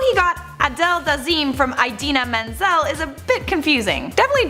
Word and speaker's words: Idina Menzel: Next at number 4, we have John Travolta mispronouncing Idina Menzel at the Oscars. Idina Menzel was set to perform Let It Go at the Oscars in 2014. For whatever reason, John Travolta called Idina Menzel Adele Dazeem when he was introducing her.